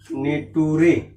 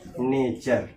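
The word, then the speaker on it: nature: अब टी के बाद क्या आया है? यू आया है, लास्ट में ई का प्रोनाउंसिएशन नहीं होता है, तो क्या कहेंगे जी? नेटूरे। ये क्या है? गलत है। क्या होता है? नेचर। सही प्रोनाउंसिएशन क्या होगा? नेचर।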